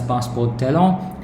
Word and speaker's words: passeport talent: And the third one is, the second one basically is residence card passeport talent, which is pronounced as passeport talent in French.